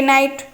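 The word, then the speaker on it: night: जिवो correct answer L टा रहउछि हमर कोन साइलेंट नाइट नाइट माने राती जानिछो समस्त एन आई जी एच टी नाइट option A रे अछि एन ऑप्शन बी अछि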